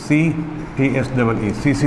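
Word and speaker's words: tsetse: अंग्रेजी में सीसी को TSEE सीसी लिखते हैं, टी साइलेंट है।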